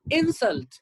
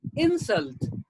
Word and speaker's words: insult: dessert that's a verb now this one insult as a noun insult but as a verb insult as a verb insult